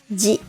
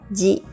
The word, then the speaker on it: ぢ: Notice that chi with a dakuten is pronounced just like ji in the row above. Likewise, tsu with a dakuten is pronounced the same as zu.Let's read the row together. Da, ji, zu, de, do.